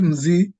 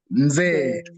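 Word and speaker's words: mzee: mazi, Za, mze, not mzi, mze.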